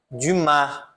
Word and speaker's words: Dumas: Aqui eu não vou pronunciar, né? Vai ser Alexandre Dumas, não Alexandre Dumas, tá?